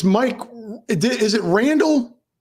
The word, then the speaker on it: Randol: Is it Randol? Correct. Yeah, Randol. Just like it would be pronounced if it was Randall, but it's just DOL.